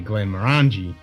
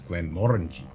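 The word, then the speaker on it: Glenmorangie: issue it's like most people say Glenn moranji but it's Glenn Morgan yeah 10 mornings like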